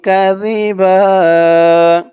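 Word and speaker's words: كَذِبًا: জিন্নু আলাল্লাহি কাজিবা আলাল্লাহি কাজিবা কাজি জালের উচ্চারণটা একদম নরম হবে জিহ্বার মাথা ওপরের দাঁতের মাথার সাথে লাগবে জালের উচ্চারণটা করার সময় জি কাজিবা বা এক আলিফ টান হবে থামার কারণে আলাল্লাহি কাজিবাল্লাহি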